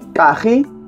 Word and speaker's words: kaji: Kaji. ¿Ah? Kaji. Kaji. K-A-J-I. Kaji. Kaji. Wow. Kaji es el 4. Wow. ¿Y el 5? Wow. Jun Kai Oshi Kaji.